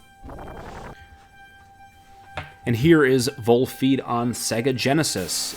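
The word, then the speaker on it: Volfied: It called this game Volified, and that's how I read it, but it is not Volified. It's Volfeed. And it's a sequel to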